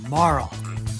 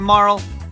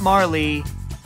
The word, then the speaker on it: Marle: and yes it's pronounced Marl in Japanese it was Maru which leads to Marl which sounds sort of like how you'd end the name Carl no it's not Marley just no anyways back